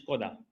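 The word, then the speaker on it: Škoda: So the pronunciation is Skoda.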